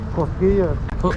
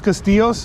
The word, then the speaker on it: Cosquillas: Tios Castillos? Tío. Tio is uncle. Tio. Tio I've heard that. Cosquillas. Cosquillas? Tio Cosquillas! Yeah, you said it right.